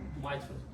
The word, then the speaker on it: mitral: Usually I'm telling mitral or mitral. Both pronunciations are correct in English. Mitral valve or mitral valve.